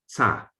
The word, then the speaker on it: စ: The author writes that this is pronounced like tsa, not sa, but tsa. So language is not zaga, but tsaga.